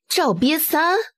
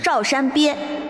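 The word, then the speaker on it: Zhao Shanbie: really fresh and unique Pronunciation error It's Zhao Shan bie Zhao Qian Sun Li's Zhao The mountain of Da Shan The turtle of Wang Ba He couldn't help but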